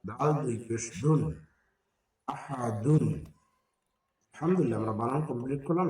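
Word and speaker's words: أحد: হবে ইয়াকুল্লাহু এখানে হায় উল্টা ব্যাস হবে আহাদ আহাদুনকে আহাদ পড়তে হচ্ছে কেন করার কারণে শব্দের শেষে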